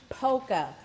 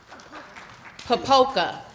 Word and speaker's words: Popoca: You look at it and say it right. Poca. Mary Jose Poca. Popoca. I missed a syllable.